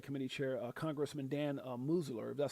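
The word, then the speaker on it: Meuser: Representative French Hill uh and oversight committee chair um um and oversight committee chair uh Congressman Dan Musler, that's how you say it, issued a final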